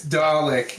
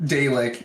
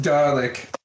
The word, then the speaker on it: Dalek: It's Dalek, not Dalek. It is pronounced Dalek. Dalek. Not garlic. It's not garlic.